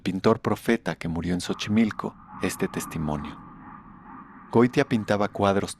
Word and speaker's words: Xochimilco: Dicen que en Cancún, el Acapulco del nuevo milenio, hay otro Xochimilco que se escribe con 2X y se pronuncia sh.